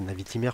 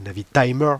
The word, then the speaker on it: Navitimer: peu d'étanchéité sur ses Navitimer par exemple, ou Navitimer parce qu'on m'a déjà engueulé de pas prononcer comme il faut, donc Navitimer.